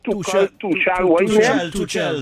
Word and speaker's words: Tuchel: How you pronounce his name? Tuchel. Thomas Tuchel.